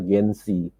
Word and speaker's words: Gen SY: ciptakan satu generasi yang kita sebutnya adalah gengsi gennya gen SY gitu ya kita bacanya orang biar aja